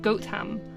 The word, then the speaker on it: Gotham: a place name so you wouldn't actually merge together the T and the H it would be goam